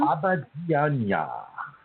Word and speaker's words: Abidjan: Pronounce it for me, Brazil. What's the name of the little town? Abidjan.